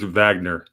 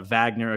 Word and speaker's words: Wagner: in in Ukraine fighting say it right Gordon it's Vagner yeah Vagner okay use your Russ use your Russian accent buddy yeah yeah so